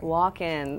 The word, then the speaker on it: Walken: state of Christopher Walken walk in like you spell it walk in okay it's not just walking but Christopher Walken that's